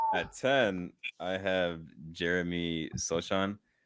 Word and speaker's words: Sochan: At 10, I have Jeremy Sochan. I think that's how you say it. I don't know how to say it. It's Sohan. You were close, nigga.